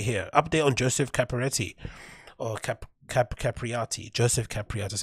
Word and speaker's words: Joseph Capriati: Joseph Capriati, that's how you pronounce his name.